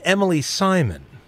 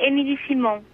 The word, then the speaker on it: Emilie Simon: you say my name well I said Emily Simon well in French you say Emily Simone Emily Simone see I Americanized it that's what I did